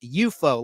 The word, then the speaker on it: UFO: Letter U, letter F, letter O, or UFO, but it was called and pronounced EUO, like an enemy, a foe, FOE, but it was spelled like UFO.